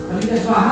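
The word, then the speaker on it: स्वाहा: Puisque vous avez la chance de participer à un Yagna, il faut prononcer le "Swaha" à haute voix ! SWAHA. Quand on dit Swaha, ce "ha" part du nombril, de la Kundalini.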